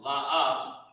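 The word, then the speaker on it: לא: And it's pronounced La'a.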